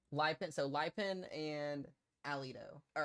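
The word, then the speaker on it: Lipan: Lipen.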